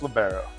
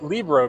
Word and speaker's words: libero: Um, it's libero. It is libero. In Europe, they say libero. I say libero. I believe it should be pronounced libero. Could you explain to me why you say libero? Well, no. So, it's Libro because the FIVB, the Federation on International Volleyball people, they say Libro and that's where the game was invented.